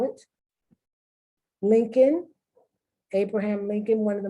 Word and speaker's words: Lincoln: Would you ever know how to spell Colonel if you didn't know how to spell it? Lincoln, Abraham Lincoln, one of the most famous presidents of the United States.